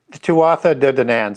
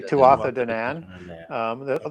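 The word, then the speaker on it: Tuatha Dé Danann: Tuatha de Danann. Some people just say Tuatha Danann.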